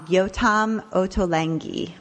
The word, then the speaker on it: Yotam Ottolenghi: Mimi, we are going to start with you and you wanted to talk about and I'm going to say his name wrong, Yotam Ottolenghi.